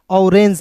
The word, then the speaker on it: orange: यहाँ पे देखिए O है शुरुआत में तो इसका उच्चारण औ के रूप में करेंगे। फिर देखिए यहाँ पे RANG, रेंज, क्या हो जाएगा दोस्तों, ऑरेंज पढ़ेंगे।